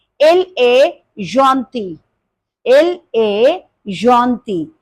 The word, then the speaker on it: gentil: You will say il est gentil. Il est gentil. And the feminine is also gentil. In written English, spelling will be different, but the pronunciation will be same.